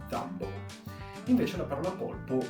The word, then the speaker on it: Dumbo: La andiamo a pronunciare quanto più vicino possibile alla pronuncia originale, quindi “dámbou”.